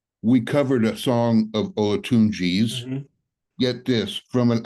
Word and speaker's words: Olatunji: How do you pronounce his name? Is it Michael Alatunji? Is that Olatunji, Olatunji, Alatunji? Okay. Ola, Olatunji.